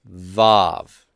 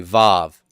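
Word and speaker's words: וו: bait gimbal dalet hey and then we have vove everybody say that with me vove and the vove is going to be a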